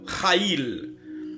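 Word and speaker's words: chayil: Vertueuse en hébreu veut dire Haïl, ça veut dire Shaïl, C-H-A-Y-I-L. Femme vertueuse, femme Shaïl. On lit, on prononce en hébreu Haïl.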